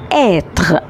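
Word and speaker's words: être: إل افيك اس او إل اما نيجي ننطق جملة هن. طيب الفيرب اللي عندنا النهاردة اسمه اتغ.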